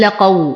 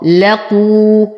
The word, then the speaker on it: لقوا: لقوا، القاف مضمومة فلا أقول لقوا، وهذا خطأ. لقوا، هذه الألف لا تنطق فوقها الصفر المستدير، فهي ألف التفرقة بين واو الجماعة والواو الفردية، لا تنطق.